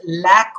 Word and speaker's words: lack: students be very careful it is lack of money it is not Laye cost money there's difference it's not Lake of money lack of money the